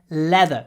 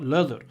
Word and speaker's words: leather: have a leather belt leather when you pronounce it try to smile leather not Lea Lea leather if you want to